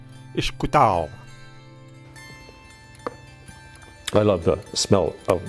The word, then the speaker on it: Ishkutao: The Algonquin word for fire, pronounced Ishkutao.